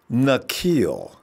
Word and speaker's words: Nzeocha: in and corrected me it's nille like Shaquille but without the Q sound it's nille nille Harry thank you